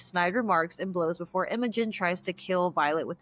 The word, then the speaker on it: Imogen: Or is it Why do I not Imogen? remember? It's okay. Imogen? It's Imogen. Okay, Imogen, a Uh-huh. separatist child who is in her second year. The two exchange snide remarks and blows before Imogen tries to kill Violet with the dagger, but